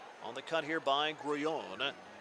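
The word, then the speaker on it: Grullón: Swinging a bouncer foul at the plate on the cut here by Grullon. 1 ball, 1 strike of the all-star catcher. Last name is spelled Grullon, pronounced Grullon. And now the 1-1 up and in.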